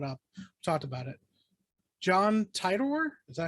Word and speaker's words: Titor: John Titor, is that how you pronounce his name?